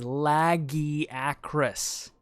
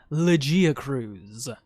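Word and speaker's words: Lagiacrus: written in the game the correct pronunciation is laggy across not legia cruz and while we're on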